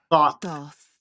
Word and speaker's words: Thoth: Oh, that's how you pronounce his name? Let's hear her again. It's good to see you. Thoth, the Ibis King.